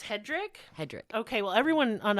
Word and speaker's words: Hedrick: oh no it's Hedrick huh it's hedri it's pronounced Hedrick h e d r i c k no